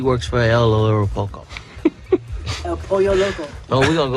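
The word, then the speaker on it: El Pollo Loco: She's So, she's working for El Lero Poko. I'm sorry. It's El Poyo Loco.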